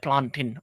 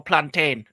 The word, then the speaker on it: plantain: With a bit of plantin. Well, plantin or plantain depending how how do you say it? Plantin or plantain depending on where you're from.